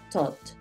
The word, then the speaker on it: thought: es un verbo irregular thought I thought thought I thought thought porque es una th thought I thought y la gh no suena pilas con los sonidos I